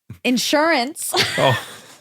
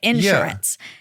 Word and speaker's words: insurance: oh no way and I said Insurance that's how I say it insurance and it's insurance so they stopped me and so you have to say it like this obviously because it's a commercial